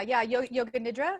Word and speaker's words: yoga nidra: She's passionate about wellness, self-care, and spiritual development, holding certifications in hypnotherapy and yoga nidra. Is that how you say it, Kim? Yeah, yoga nidra.